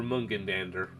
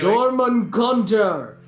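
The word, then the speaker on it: Jörmungandr: In fairness, I did make fun of John that one time by saying you're Mungendander. Yeah. No. It's German Gandra. Anyway, Jormungandr!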